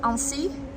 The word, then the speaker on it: Annecy: city it's spelled a-n-n-e see why but it's pronounced as ANSI they call it Little Venice honestly nothing to